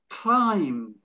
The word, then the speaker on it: climb: the word bomb climb again it's the b is silence cone see there's no